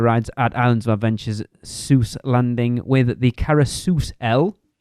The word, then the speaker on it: Seuss: and then we'll be back to finish off Zeus Landing Seuss Landing sorry Jeff Ro Zeus is Seuss I've